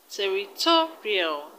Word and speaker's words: territorial: in the right territorial the stress is on t o two territorial territorial now let's look at